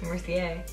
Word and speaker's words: Mercier: No, that's not how you say it. It's Mercier. Mercier, whatever. The R silent.